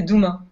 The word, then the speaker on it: Doumens: En fait, te casse pas la tête, tu prononces pas les 3 dernières lettres. C'est Douma.